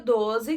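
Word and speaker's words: twelve: Já o número 12, que muitas pessoas confundem, é mais simples. Tem alguma amiga chamada Tuane? 12. Você vai juntar 12.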